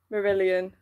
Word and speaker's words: Marillion: me just Google Marillion yeah that is Hope pronounce it um Marillion who actually I think a lot of people